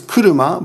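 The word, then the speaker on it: 車: Sha is kuruma, but in this case it's sha because it's paired along other kanji. When kanji are paired together, their pronunciations may change.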